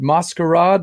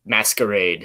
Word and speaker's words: Mascarade: I call it Mascarade, but I'm not sure. I've heard a bunch of different ways of pronouncing it. How do you say it? I totally Americanize it and say Mascarade.